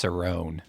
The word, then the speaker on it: Cerrone: it happen that's why I pronounced it wrong I know it's Cerone you know now it's